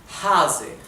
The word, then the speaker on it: Hase: O sea, en alemán creo que les había explicado que la H en alemán se pronuncia como una exhalación, ¿verdad? Hase, Hase significa liebre, Hase.